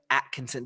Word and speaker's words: Atkinson: i've known him jerem atkinson did i say it right at kingston yeah i always the t and the k always mess me up when i see i